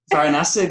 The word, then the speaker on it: Varanasi: Varanasi, that's it.